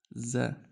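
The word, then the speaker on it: ز: And this is za.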